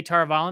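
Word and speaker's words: Tar Valon: Along their journey to Tar-Valon, I'm going to say Tar-Valon because that's how it's pronounced in the audiobooks, sure.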